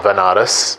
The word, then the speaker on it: Banaras: ended up going to banaras which is a place in india sometimes pronounced as vanaras which is a place